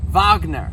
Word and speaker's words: Wagner: So, he was born Johannes per Vagner. That is the German pronunciation for uh his name.